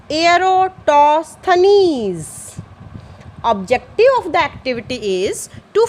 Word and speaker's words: Eratosthenes: Yes, the pronunciation is sieve of Eratosthenes.